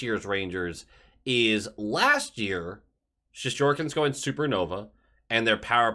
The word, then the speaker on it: Shesterkin: Shesterkin is how you say the name, having a good season.